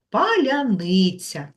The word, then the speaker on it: паляниця: а зараз давайте разом затанцюємо та навчимося правильно вимовляти дуже гарне слово паляниця от маленьких українців знати слово паляниця паляницю вимовляємо